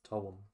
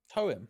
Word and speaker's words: TOEM: He was talking to me about Tome? Not Tome. No, I thought it was Tome. It's Toem. Toem, like poem.